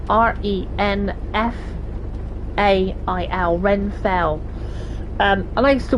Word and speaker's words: Renfail: There's a channel called Renfail, R-E-N-F-A-I-L, Renfail.